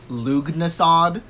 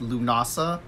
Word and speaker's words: Lughnasadh: story about lu dasa i actually thought for a longest time it was pronounced luke mossad which it is not even pronounced that way it's pronounced Lughnasa first of all but